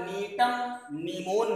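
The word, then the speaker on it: Gnetum gnemon: अब इसके बाद नीटम नीमोन नाम का पौधा है। ये नीमोन क्या है, स्पीसीज है नीटम की, जी इसमें साइलेंट रहता है।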